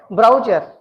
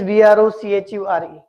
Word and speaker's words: brochure: will understand that it is brocher because we pronounce it as brower it is not brower because the spelling is b r o c h u r e and we feel that the pronunciation is brower